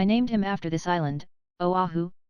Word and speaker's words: Oahu: him after this island Oahu pronounced ovav he the first gate